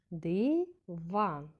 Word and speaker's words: диван: будемо використовувати питальний тон вимовляємо перше слово диван скільки складів так два а тепер запитаємо це диван який склад вимовлявся голосніше Перший чи другий Так другий в цьому сло наголошений склад другий наступне слово стіл ці